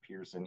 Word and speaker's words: Pearson: Ludwig is pronounced person, and then Keaton Pearson is pronounced Pearson, even though Pearson looks more like person.